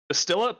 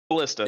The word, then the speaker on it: ballista: Is it Bastila? Bastila Ballista.